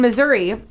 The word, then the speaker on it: Missouri: So in Missouri, it is now.